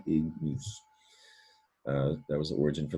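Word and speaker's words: ignis: And that G, you hear it. It's hard G sound, ignus.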